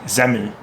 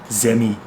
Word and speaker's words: Semmel: Sometimes that EL gets pronounced like an E, so you'll hear sometimes Zemi, Zemmel. Yeah, sometimes it's that ERL, sometimes it's an EL, sometimes it's an I. There's some variability there.